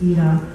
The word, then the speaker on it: Ida: I think in Polish it's pronounced Ida.